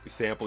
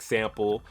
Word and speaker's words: SMLP: Like I said, they got SMLP, which I think is pronounced like Sample.